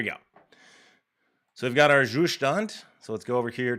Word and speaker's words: Zustand: It's a German word. You should say it like in German. Okay. So let's do yarn add Zustand. I like how it's just one thing, it's not like Zustand and then Zustand React or whatever.